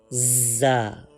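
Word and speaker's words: ظ: Closing your teeth together and touching tip of tongue with the upper and lower front teeth which are highlighted. From here we can pronounce za.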